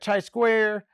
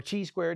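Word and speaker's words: chi square: Now if you look at chai square or tsquare depending on what school of thought you are from pronunciation wise and distinguished statistical and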